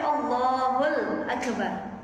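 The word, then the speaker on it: الله أكبر: Kalau biasanya Allahu Akbar dia baca Allahul Akbar, boleh. Bikhilafin nahwi, tapi nggak boleh kalau kita bacanya begini, Allahu Akbar, Allahu Akbar, itu ya. Jadi nggak usah ditambah-tambahin, udah paling benernya tadi Allahu Akbar, gitu ya.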